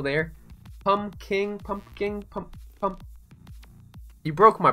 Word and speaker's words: pumpking: with luck wanted pumpkins not pom King pumpking are you implying that I need to pronounce the other P that's just weird dude you don't call it a yeah yeah you know you know it's it's pumpking pumpking it's like it's silent but it's still there pom king pumpking